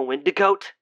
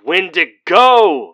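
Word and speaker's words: Wendigo: right does does it still hurt being a windig goat it's windigo Mary holy cow woman how do you not properly pronounce the subject of all your grandmother's teachings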